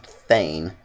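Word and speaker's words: thegn: Oh, and I found out that the little P-E-G-N is apparently pronounced Thane, as that's sort of the lower level of ruler in Norse, or in the Norse society, I suppose is the right term.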